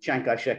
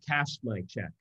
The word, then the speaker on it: Chiang Kai-shek: sense that there was theoretically a coalition between Chiang Kai-shek and Mao, at least during the war. I mean, so there was supposedly and I think you should pronounce his name correctly. Kashmai-chek.